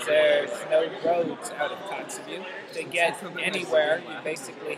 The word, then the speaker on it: Kotzebue: So I was actually looking up Kotzebue on Google Maps.